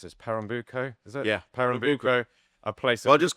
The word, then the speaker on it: Pernambuco: I always struggle to pronounce this. Pernambuco, is it? Yeah, Pernambuco, a place.